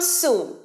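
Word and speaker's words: soon: ওকে তাড়াতাড়ি এসো কাম সুন কাম সুন বল আমার সাথে কাম সুন কাম সুন সুনটা একটু দীর্ঘায়িত উচ্চারণ হবে ডাবল ও আছে সুন নয় সুন কাম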